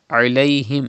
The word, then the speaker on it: عليهم: Sawaun alayhim. It is ain pronounced from the middle part of your throat. Do not say alayhim. Do not read hamza. If you say alayhim, that means you are reading hamza.